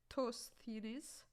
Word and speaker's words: Eratosthenes: using this thing called sieve of I think Eratosthenes. It's a little bit hard to pronounce, but it's sieve of Eratosthenes.